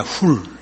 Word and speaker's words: Hur: 벤허는 영어 발음으로 허가 됐지, HUR로 표기된 허는 훌입니다. 훌.